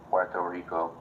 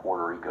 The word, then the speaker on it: Puerto Rico: oh what is the U.S not like at Puerto Rico but it's not it's how you say it's not Puerto Rico it's Puerto Rico oh Puerto Rico I like